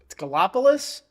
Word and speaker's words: Gallipolis: Gallipolis, Ohio. It's not how you pronounce that. I forget how you pronounce it. Yeah, we can do Gallipolis. I'm going to crash out. It's Gallipolis.